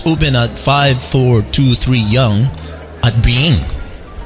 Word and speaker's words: Byng: Noodle Soup Chew Resto is open at 5423 Yonge at Byng. How do you pronounce that street name? B-Y-N-G. Byng. Right?